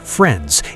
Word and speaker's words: FR13s: FR13s, pronounced friends, is a four-person hacking collective with direct ties to the Russian cyber mafia.